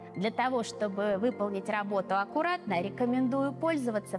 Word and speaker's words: чтобы: 2 гласные два слога чтобы обратите внимание произносим чтобы пишем чтобы скучный вкусный ну что